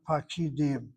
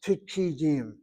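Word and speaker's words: פקידים: And then, in light of what Baruch said, the plural of that word is not pakidim. Again, that kamat is 2 places removed from the accent on the last syllable, and it reduces to a shvana. It's pikidim, pikidim.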